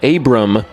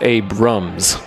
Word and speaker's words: Abram: in that camp that when you drive by you see that there is no s it is Abram Street and people just kind of blend the s's together and it becomes Abrams well maybe cille might